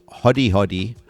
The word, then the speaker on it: Hodi Hodi: First of all, Hodi Hodi, is that the way that we pronounce it?